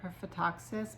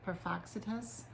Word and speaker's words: Perphaxitus: I think I said Perphaxis, but his name is Perphaxitus. Perphaxitus, yeah, I'm pretty sure that's it.